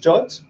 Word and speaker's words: JWT: So it's pronounced JOT. Don't ask me why, I have absolutely no idea, right? They are called JOT, right?